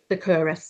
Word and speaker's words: Succoris: Um and so if you were just going to describe what your So, is that pronounced Securus, is it? Securus, yeah.